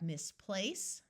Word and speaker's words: misplace: So here we have misplace. Notice place is emphasized more than miss because in English we rarely accent prefixes or suffixes.